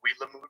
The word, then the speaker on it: Willamette: The French renamed it just with their dialect and spelling, so it's Willemette. It's like long-winded when it's Wilamut, where the water runs fast.